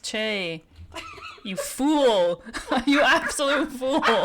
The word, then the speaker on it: Choi: It's pronounced Che.